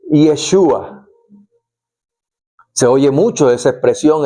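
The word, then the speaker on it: ישוע: En hebreo moderno se dice Yeshua. Se oye mucho esa expresión, esa palabra mencional por parte de los judíos. Yeshua Hamashia.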